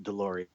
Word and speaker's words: Deslauriers: I'm my name last name is pronounced de Lori yeah weird French but